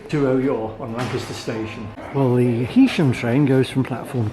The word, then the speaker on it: Heysham: Heam rhymes with key.